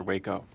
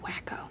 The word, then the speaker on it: Waco: What if it's another Waco? It's pronounced wacko.